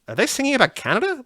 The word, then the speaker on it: Kaneda: uh but then when i heard the name canada because it's it's k-a-n-e-d-a but it's pronounced canada in the teriyaki boys song for